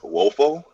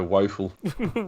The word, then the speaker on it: Woefel: z like scope uh the name is wolfel it's pronounced or some people say wolfel yeah